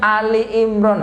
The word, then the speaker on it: Ali Imron: Ali Imron tapi bacanya Al Imron. Al Imron, ngakunya guru ngaji biasanya Al Imron bukan Ali Imron, harusnya Ali Imron.